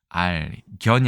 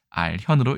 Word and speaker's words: 알현: 알견이 아니라 알현으로 읽어야 됩니다.